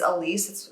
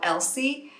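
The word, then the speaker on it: Elyse: My name is Elise. I go by my middle name, but it's spelled E-L-Y-S-E. And growing up, I was always called Elsie.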